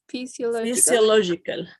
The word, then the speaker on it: physiological: the two words psychological physiological when you see P and H it sounds like an F in Spanish okay okay physiological psychological